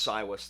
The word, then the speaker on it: Saevus: to do with crows so in Latin it's SAS that's how you pronounce it the V is pronounced like a w so that's how I'm